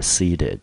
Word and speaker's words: seat: and the diners were seated。